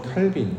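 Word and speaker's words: Calvin: 어 기독교 개혁 신앙 중에 위대한 신학자였던 존 칼빈 우리가 알고 있죠. 깔뱅이라고 보통 발음하기도 하고 기독교 교리를 쓰고 기독교 어떤 기초적인 교리를 만들어서 기독교가 교리 가운데 텐팅사는 아주 위대한 신학자라고 모두가 다 알고 있습니다.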